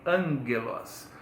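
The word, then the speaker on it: ἄγγελος: No grego não tem já, jojo. Então esse G aí se pronuncia G, angelos.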